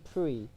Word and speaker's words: Prix: Like, it's spelled Prix, but they say Prix.